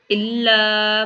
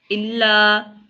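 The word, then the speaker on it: إلا: लना इल्ला मा अल्लमतना। इल्ला, देखें इला नहीं पढ़ना है इसको, लाम के ऊपर देखिए तशदीद है, तशदीद की वजह से ये क्या बना इल्ला।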